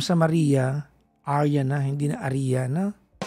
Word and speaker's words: Aria: Arya po.